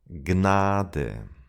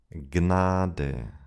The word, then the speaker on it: Gnade: In German, however, we do pronounce those letters at the beginning of words. Psychologie. Psychologie. Knie, Knie, Gnade, Gnade.